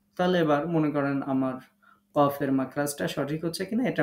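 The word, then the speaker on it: ك: Calf উচ্চারণ করার সময় আমরা ধাক্কা দিব না, স্বাভাবিকভাবে উচ্চারণ করব। বাংলাতে ক অক্ষর যেমন আমরা উচ্চারণ করি আক, ইক, উক, এরকম।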